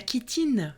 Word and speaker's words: chitine: prix avec notre santé la kitine qui se prononce ainsi mais qui s'écrit chitine C H i t